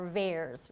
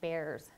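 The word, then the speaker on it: VAERS: adverse event reporting system or Bears rhymes with Bears um and this is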